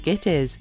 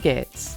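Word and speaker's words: Gittes: Rather than calling him Mr. Gitties, Cross repeatedly calls him Mr. Gits.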